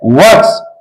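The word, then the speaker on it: works: आदमी है वर्क्स आ बते अपने टॉपिक प वर्स वर्ष के माने होता है हम लोग पढ़ेंगे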